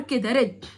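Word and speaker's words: read: شود ريد، هي نفس الحروف بس بقى النطق بيختلف، يعني الماضي من ريد ريد، هي نفس السبيلنج نفس الحروف بس بتقراها كأن لون أحمر كده ريد.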